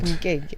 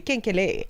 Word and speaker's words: Kenkele: Every time you say the name of the title of that song, it sounds like Mkenge.